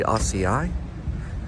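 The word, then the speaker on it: açaí: It's like a berry. It's pronounced acai.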